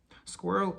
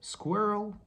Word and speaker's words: squirrel: surprise the word squirrel squirrel is a little creature that jumps around trees and it eats usually nuts and the similar word that i can find in pronunciation would be plural squirrel plural okay second word was